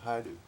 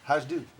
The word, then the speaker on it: Hajdu: No, it's Hungarian. Haidu. Oh, I don't know. It's spelled H A J D U. Haju.